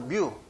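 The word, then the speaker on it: μ: 여기에 모집단에서는 모집단의 평균을 이렇게 뮤라고 읽습니다. U도 아니고 뮤.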